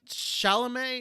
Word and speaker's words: Chalamet: most of it is just passable uh timothy chalamet is that how you pronounce his last name yes he puts in